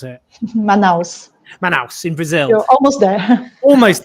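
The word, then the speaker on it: Manaus: that and also linked to this um in manhouse is that how i pronounce it is it manhouse i'm never sure how to pronounce it manos man house in brazil almost there almost there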